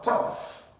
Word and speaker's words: tough: this word you have tough tough for this GH here you are going to pronounce f that is tough then for option D